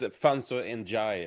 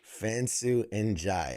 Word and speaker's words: Fansu Njie: So, it's Fansu Enjoy. Like Enjoy. Fansu Enjoy.